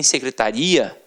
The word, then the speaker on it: secretaria: com aquela pronúncia e você tem secretária e você tem secretaria e aí já é o que já é diferente já não é mais uma paróquia situada a terminar de tonghua é você já tem uma pronúncia diferenciado então secretária o secretário